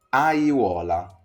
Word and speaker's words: aiuola: Quindi, quando io ho una parola, per esempio questa, come la leggeresti? Aiuola, aiuola. Aiuola. Ok, quindi è strano, è difficile, ma io sto pronunciando velocemente tutte le vocali.